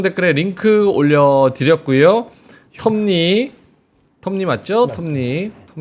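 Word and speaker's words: Tom Lee: 톰니 이건 발음을 잘해야 돼요. 톰니 톰 리. 톰리 이렇게 할 수 있잖아요. 톰 리. 그러니까 그렇게 해야지. 오바랑 오바. 톰 리. 이러면 좀 약간 재수없잖아. 톰리 하면 이상하잖아. 톰니.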